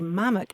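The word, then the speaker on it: mammock: pieces m a m m o c k mamic and in fact Shakespeare used it that way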